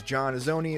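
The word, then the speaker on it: John Azoni: If you're searching for me, my name is Jon Azoni. It's spelled j o h n a z o n i.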